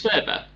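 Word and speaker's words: Wöber: With the W, but it's pronounced the V. Who's your centre back? Max Verber.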